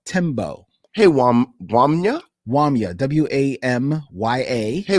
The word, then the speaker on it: Tembo: We received an email from Wamya Tembo. Hey, Wamya? Wamya, W-A-M-Y-A. Hey, Wamya. Tembo, T-E-M-B-O. Okay. So hopefully I am pronouncing that correctly.